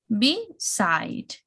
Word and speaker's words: beside: For example, beside. So we have be, like fall, beside, okay, beside. Adapt.